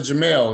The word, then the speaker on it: Jamal: Mr all right you pronouncing Jamel is that correct yes okay I want to